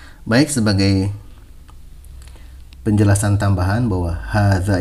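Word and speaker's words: هذا: Nah, baik, sebagai penjelasan tambahan bahwa hadza ini kenapa di situ haknya tidak ada alifnya tapi dibaca 2 harokat. Nah, karena huruf alifnya itu disembunyikan. Ya, seharusnya ha, alif, zal, alif. Nah, jadi karena dihilangkan tapi membacanya tetap harus 2 harokat. Hadza.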